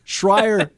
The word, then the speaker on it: Shrier: Shrier rhymes with choir, and he's the choir boy of this group.